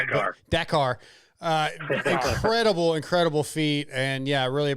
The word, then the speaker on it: Dakar: Well, once again, Ricky, congratulations on another championship another win at Dakar. Dakar. I'm saying it wrong. I guess listen to you say it. Dakar.